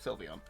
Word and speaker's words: Sylveon: I guess because of Sylveon.